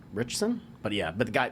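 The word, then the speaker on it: Ritchson: his name alan richards i think it's pronounced alan rick richson but yeah but the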